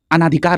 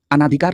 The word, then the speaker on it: अनधिकार: इसी तरह एक शब्द और याद आ रहा है, कई बार पूछा गया है, अनाधिकार आप बोलते हैं, ठीक है। जैसे अनाधिकार, अनाधिकार नहीं होता है, अनधिकार होता है।